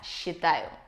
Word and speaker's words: считаю: И первая альтернатива – это «я считаю». Обратите внимание на произношение. «Считаю» с «ч» превращается в «щ».